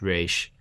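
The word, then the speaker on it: Ra's al Ghul: its current spelling but the creators of the character originally spelled and pronounced it r e apostrophe s h rash in rough translation the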